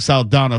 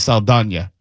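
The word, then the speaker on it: Saldaña: So I'm clear that's how she intends for her name to be pronounced. Because I've been saying Saldana forever, but it's Saldana.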